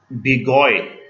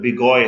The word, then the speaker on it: Béguyer: Next है, ये एक टफ नेम है, अलेक्जेंडर बिगॉय। इस तरह यहां पे भी ER साइलेंट है। डी चैन कोर्टवा, ये उनकी प्रोनाउंसिएशन है, फ्रेंच है, तो हम जो है जिस तरह खुद भी पढ़ सकते हैं, लेकिन ये ER बिगॉय होता है, ठीक है, और ये कोर्टवा इसे पढ़ते हैं।